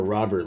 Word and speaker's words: Robert: would be awesome uh there's a rover or robert robert i still gotta find out exactly the connection correct pronunciation of that i've i've been hearing it all i've been hearing more robert lately so i'm assuming that's correct but i'm still stuck in